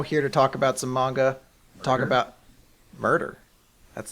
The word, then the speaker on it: manga: started working at Viz, he used to call it manga. Now he calls it manja. I was like, Like he's trying to get like one up on you. yeah. He's like, actually, son, it's pronounced manja. You're like, no, it's not. It's really not.